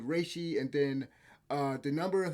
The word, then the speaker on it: Reishi: Your health bar is called the Rishi, and the other one, no, it's not pronounced. I mispronounced that. It's Reishi. So your health bar is called Reishi, and then the number of health bars you